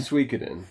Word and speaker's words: Suikoden: you say this you you're better at that Suikoden Suikoden Walter Peck at work was wanting this